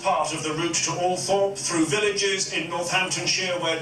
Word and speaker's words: Althorp: Even though she had preferred bright lights and big cities, the rural setting of Althorpe, sometimes pronounced Althorpe by the toffs, was thought most appropriate for Diana's last resting place.